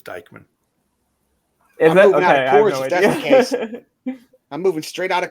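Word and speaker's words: Dyckman: and it looks like dickman oval if it gets added will make the baker bowl look like a pitcher's park those of us closer to the bronx pronounce it as dikeman i'm moving straight out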